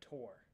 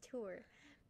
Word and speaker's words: tour: to say certain words like tor like no it's tour so i am from